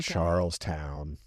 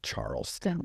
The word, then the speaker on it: Charles Town: It was named in honor of King Charles. So, it's Charles's town. So, Charles Town.